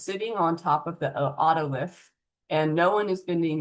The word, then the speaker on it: otolith: Otolith. I've heard it pronounced oolith or oolith, those are fine, too.